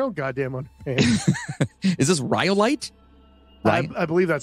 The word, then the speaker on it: Rhyolite: Is this rhyolite? I believe that's how it's pronounced.